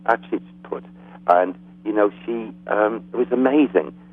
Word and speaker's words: Hatshepsut: Hatshepsut, I think it's pronounced Hatshepsut.